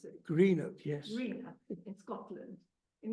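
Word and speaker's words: Greenock: in Greeno is it is that how you pronounce it Greeno yes Greeno in Scotland in 1949 he attended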